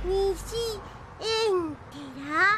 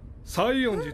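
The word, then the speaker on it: 西園寺: なんで西エンテラばかり？西園寺と読みます。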